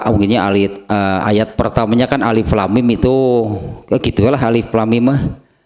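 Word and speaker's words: الم: yang dipotong-potong atau dipisah-pisah jadi jangan dibaca alam hehehe Jangan dibaca alam itu alif.lam.mim itunya naik mulai ayat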